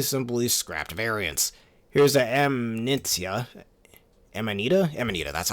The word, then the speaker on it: Amanita: Here's the Amanita, that's how you pronounce it, which is a blue mushroom enemy from the ones we see in the Forest Maze level.